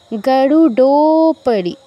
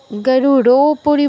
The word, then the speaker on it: গরুডোপরি: উচ্চারণ করে ফেলতে হবে গরুডোপরি গরুপরি বলবো না ড এর মত উচ্চারণ করব গরুডপরি সংস্থিতা সংখচক্র গদা সারঙ্গ